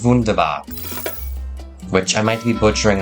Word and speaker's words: wunderbar: You know, Germans pronounce W's as V's. That's why it's wunderbar.